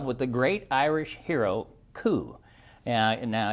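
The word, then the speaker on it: Cú: the great Irish hero coup and now it's spelled CU but you pronounce it cou and cou uh you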